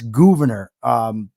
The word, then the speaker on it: Gouverneur: Yes, it's Gouverneur Morris, because it's GOU is how it's spelled. It's not spelled like governor.